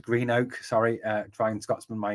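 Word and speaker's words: Greenock: done that one sorry it's pronounced Green Oak sorry uh Brian Scotsman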